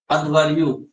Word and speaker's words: अध्वर्यु: भाव है अध्वर्यु, घ नहीं ध। हाँ अध्वर्यु कहा जाता है। हाँ ध होगा, ध अध्वर्यु। कहीं कहीं घ लिखा हुआ मिलेगा लेकिन ध ही मतलब सही उच्चारण है इसका।